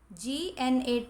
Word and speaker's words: gnat: जैसे gnat, GNAT is pronounced as gnat. यहाँ G silent है, तो और words हमें बनाने हैं जिसमें G silent हो.